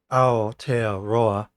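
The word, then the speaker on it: Aotearoa: bad pronunciation ition pronounced a tea roa the mali's name for New Zealand before the Dutch colonized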